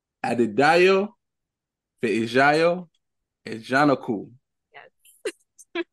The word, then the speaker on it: Ajanaku: So it's Adidayo, Feijayo, Ajanaku.